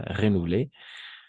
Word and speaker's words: renouvelé: Son contrat de travail n'a pas été renouvelé, aquí vamos a pronunciar todo porque está acentuada, renouvelé.